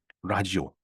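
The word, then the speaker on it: ラジオ: 그냥 편이 라디오인데 이게 일본 사람들이 이걸 들여왔을 때 표현하 나니까 라디오 발음을 못해요 일본애들은 발음을 못 합니다대 아니면은 지로 발음을 해야 돼요 그러니까 라디오 하면 라디오 말이 안 나죠 어감이 좀 좀 이상하죠 라지오 뭐 좀 틀리지만 또 라지오 라디오 라지오 이게 비슷하죠 이게 이제 우리나라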